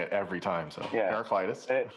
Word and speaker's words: Heraclitus: Heraclitus. In the Greek, the accent is on the alpha.